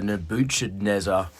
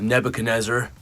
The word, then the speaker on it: Nebuchadnezzar: I think back then I was pronouncing the Nebuchadnezzar as the Nebuchadnezzar, and the boys were quick to point out that it was the Nebuchadnezzar.